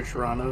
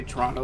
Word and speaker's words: Toronto: You know someone's from near Toronto, if they say Toronto with two syllables instead of three.